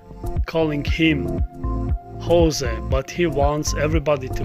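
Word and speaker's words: José: jose mourinho is not satisfied with tottenham players with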